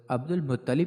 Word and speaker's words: عبد المطلب: ان کو عبد المطلب درست تلفظ عبد المطلب اس لیے کہا جاتا